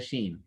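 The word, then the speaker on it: ش: they go into vibrations she on the other hand what happens is the tongue will come same way it's going to come to where it's supposed to very close to the upper palate and it's going to stay there you're not going to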